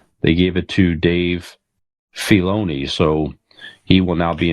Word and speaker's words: Filoni: It's the I is not pronounced. It's Filoni.